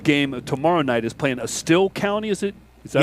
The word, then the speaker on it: Estill: That Prestonburg game tomorrow night is playing Estill County, is it? Is that how it's Yes.